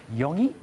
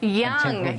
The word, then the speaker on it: Yonge: on the corner of Yonge or Yong? Young.